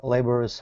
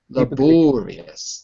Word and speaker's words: laborious: clamber climb or move in an awkward and laborous way laborious laborious way laborious way typically using both hands